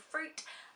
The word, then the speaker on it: FROOT: Marina and the Diamonds new album is called fruit um it's spelled f-r-o-o-t um this is her follow up